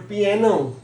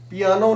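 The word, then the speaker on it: piano: Most commonly मिसप्रोनाउंस्ड word पियानो, पियानो नहीं है, this is पियानो।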